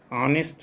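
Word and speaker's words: honest: तो आप जानते हैं कि ऑनेस्ट है, तो ऑनेस्ट का के कारण यहाँ पर इसका फर्स्ट सिलेबल का उच्चारण वावल से होता है, तो यहाँ पर ए नहीं होके एन होगा, तो इसका आंसर हो जाएगा सी।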